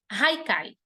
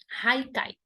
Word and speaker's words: Haikai: Haikai, tá? Haikai. A pronúncia é essa. Esse H aí tem som de R.